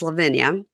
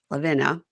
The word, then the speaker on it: Lavina: Why, of all the names in the English language, Hebrew language, Greek language, Spanish language, would her parents choose to give her a name that rhymes with vagina?